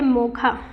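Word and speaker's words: Mocha: मोका को प्रोनाउंस किया जाता है मोखा।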